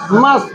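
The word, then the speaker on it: must: यू मस्ट go there मस्ट में T silent मारो ठीक है मस्ट बोलो यू मस्ट गो देयर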